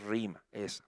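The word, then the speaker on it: ῥῆμα: Se escribe rema, pero es rima, se pronuncia rima.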